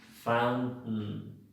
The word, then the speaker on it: fountain: Fountain. Voy como si fuera a sacar la T, pero no la saco, no la hago, no la pronuncio, e inmediatamente hago la N.